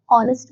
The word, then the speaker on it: honest: European, an hour, an honest man, an honor. We use an before the words are honest and honor because in these words the h at the beginning is silent.